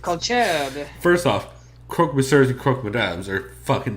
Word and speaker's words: croque monsieur: Wrong, but croquet, monsieur or madame. Wow. You just call croque monsieur croquet monsieur?